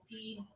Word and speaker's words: Pfeifer: Spelled like Michelle Pfeiffer? Yeah. Silent P? Yeah. Pfeifer.